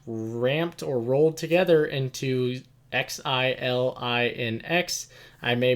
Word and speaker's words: Xilinx: going to be ramped or rolled together into XILINX. I may mispronounce this, but I believe it's Xilinx, and this is an acquisition that they'll be going through.